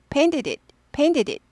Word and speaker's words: painted it: 혹은 이제 빨리 하면 pain it. Pain it까지 가는데 우리는 그렇게 빨리 못 하니까 painted it이 정도로만. 그렇다고 painted 하지 않아요. painted it. Painted it 이렇게 돼요.